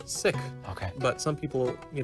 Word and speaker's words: Sikh: for meditation and prayer now how come you say sick and not seek well the actual pronunciation is sick okay but some people